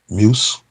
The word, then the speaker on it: Muse: used was adobe muse muse is how you say it m-u-s-e yeah i have the